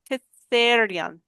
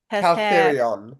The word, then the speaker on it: Caltherion: It's not correct, but I like it. Cather Catherion. Caltherion. Catherion. I will get it. Oh, no, there is an L there.